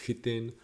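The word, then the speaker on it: chitin: if it's czech language it's pronounced hiten i think english is pretty pronounced kitten and so they have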